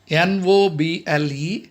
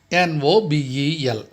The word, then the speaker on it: Nobel: Many of us, we just commit a mistake. Noble, Nobel. See the difference?